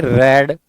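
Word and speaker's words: read: letter let the letter अब रीड का third form कर देंगे रेड स्पेलिंग सेम रहेगी प्रोनंसिएशन चेंज हो जाएगी यह रेड है यह रीड है अब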